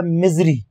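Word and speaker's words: misery: अब बात करते हैं क्वेश्चन नंबर 69 की, इसे है एम आई एस ई आर वाई, ई आर वाई इसका प्रोनाउंसिएशन होता है मिजरी, मिजरी यानी होता है ग्रेट ग्रीफ, बहुत ज्यादा दुख, सैडनेस, मिजरी बहुत ज्यादा पीड़ा, कष्ट, दुख, उसको कहते हैं मिजरी।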